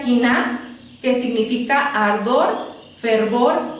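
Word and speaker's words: קנאה: celus, que significa ardor, y en hebreo se pronuncia kiná, que significa ardor, fervor y pasión.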